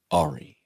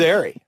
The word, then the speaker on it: Ari: uh I I think the pronunciation here is uh Ari and we were doing kill Ari yeah and Mark would like when is Ary getting back back here he was Airy and there was no